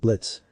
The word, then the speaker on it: Blitzo: through her Shades at Blitz first it Blitz the O is silent and second I haven't